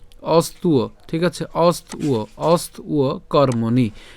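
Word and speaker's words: অস্ত্ব: কার মত হবে উ এর মত হবে তাহলে উচ্চারণটা কেমন উ অস্তু ঠিক আছে অস্তু অস্তু কর্মণী তাহলে আমি যদি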